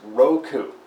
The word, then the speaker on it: Roku: great I love it it's called Roku are o.k you yeah that's right are ok you pronounce Roku so did your cable